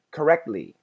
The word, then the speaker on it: correctly: said it correctly correctly correctly I stop very briefly and then make the ly sound so do you hear